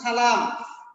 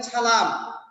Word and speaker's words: সালাম: যেমন সালাম বলেন ছালাম, সালমাকে লিখেন ছালমা, মুসলমানকে অনেকে বলেন মুসলমান, ছ বানিয়ে ফেলেন।